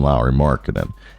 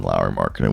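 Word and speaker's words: Lauri Markkanen: has more potential than low marinan and or had to be better than Lowry Markin would be the right way to say that and with that being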